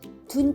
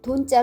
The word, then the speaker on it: 돈: 20 달아날 돈으로 하였습니다 돈 짜는 둔 짜 로도스 이지만 주역에서는 돈자 로 발음합니다 돈 짤을 보면 책받침